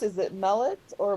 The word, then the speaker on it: Mellet: I'm not quite sure how your last name is pronounced. Is it Mellet or? Mellet, can you hear Millet? me? Yeah, Mellet.